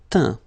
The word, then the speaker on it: teint: peindre, peint, teindre, teint. Okay, as usual, final T not pronounced.